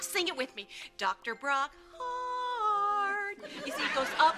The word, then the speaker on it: Brock Hart: Brock Hart. More welcoming. 2 syllables in heart. Sing it with me. Dr. Brock Hart.